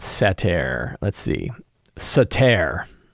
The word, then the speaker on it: satyr: They're called satyr. Let's see. Satyr, right? Satyr is how they're pronounced, satyr.